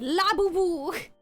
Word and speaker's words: Labubu: Okay, Labubu.